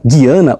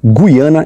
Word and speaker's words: Guiana: número três Guiana Francesa nota tanto a pronúncia Guiana ou Guiana estão corretas desde o início do